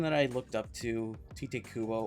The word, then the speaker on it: Tite Kubo: The person that I looked up to, Tite Kubo or Taita Kubo. I always pronounce it Tite.